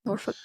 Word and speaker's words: Norfolk: Norfolk. I had a college baseball teammate that was from Norfolk, and he just said Norfolk. There was no emphasis on the L at all.